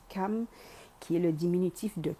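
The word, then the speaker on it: Cham: Et ouais, dans la Bible, il parle de la tribu de Cam, qui s'écrit C-H-A-M, mais pourtant ça fait bien référence à Cam, qui est le diminutif de Kama.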